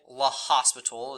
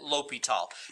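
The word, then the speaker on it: L'Hôpital: And in English, it looks like La Hospital is how it's spelt, but I believe the French way is, I think I can get this right, is L'Hopital, but that's how you pronounce it, L'Hopital.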